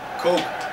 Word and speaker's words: Koke: Coke. Like Coke. Like Cola, Coca-Cola. Coke.